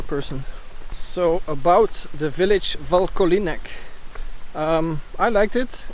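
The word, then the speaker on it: Vlkolínec: So I just met some people, and apparently it's pronounced Vlkolinec or something like that, not even sure.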